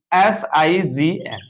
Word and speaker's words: sign: नियम ये कह रहा है कि जी के बाद अगर यन आएगा, तुरंत बाद, बीच में कुछ नहीं होना चाहिए, तब जी का उच्चारण नहीं होगा, मतलब जी साइलेंट पढ़ा जाएगा, परंतु यन पर ही शब्द पूर्ण होना चाहिए।